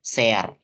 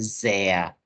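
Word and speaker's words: sehr: Thea light ya Jadi kalau s dalam bahasa Jerman itu dia itu cenderung kasar kayak pengucapan huruf z ya jadi kebalikan Z bacanya kayak huruf C kalau s itu bacanya kayak huruf z makanya aku enggak bilang sear Nah tapi Zea jadi ada s-nya itu kayak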